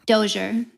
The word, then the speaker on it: Dozier: In fact, I won't even know how to pronounce it. Is it the Dozier? Dozier.